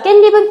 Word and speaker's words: 깻잎: 자, 있는데 거기에다가 발음할 때 깻잎 발음 어떻게 해요? 깻잎이지. 이거는 니은 청각까지 일어난 거야. 그치? 니은 발음이 난다고. 그러면 얘는 무슨 소리가 덧나는 거야?